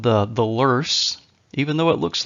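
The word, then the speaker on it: Loess: then we have what is called the the lur even though it looks like Lo here but it's pronounced lur the lur region of Mississippi also called the hills and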